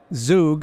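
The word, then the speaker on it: Zug: can do together yeah it's interesting we're in zoo which is also known as crypto Valley you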